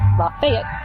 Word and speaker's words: Lafayette: Lafayette.